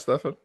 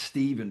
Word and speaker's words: Stephen: And I think you agree with that, Stefan? 100%. It's pronounced Stephen, by the way.